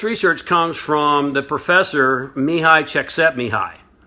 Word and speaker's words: Mihai: You can call me." And I'm like, "No, I got it. It's Mihai. All right, I got it down." Because if you look at how it's spelled, you can't sound it out phonetically.